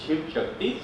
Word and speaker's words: Shiv Shakti: is Sheikh Shakti which can be pronounced in two alternative ways one is shave and Shakti two separate words and second is shiv Shakti single word and why I want